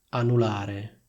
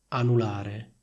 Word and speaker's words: anulare: Annullare, anulare, annullare, anulare. Vedete, la N singola viene pronunciata molto più rapidamente ed è meno forte.